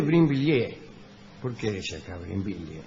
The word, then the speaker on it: Brinvilliers: María Magdalena d'Auvray, más tarde marquesa de Brinville, nació, es de Brinvilliers. ¿Por qué dice acá Brinvilliers? No, es de Brinvilliers.